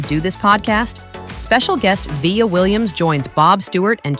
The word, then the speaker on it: Vija: Well, first of all, it's pronounced Vija, but there's a J in there.